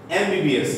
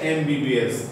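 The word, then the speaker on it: MBBS: এমটা হচ্ছে কি কনসোনেন্ট, কিন্তু এম উচ্চারণ করতে গেলে এ আসলো, আমার কি ভাওয়েল সাউন্ড এ এসেছে।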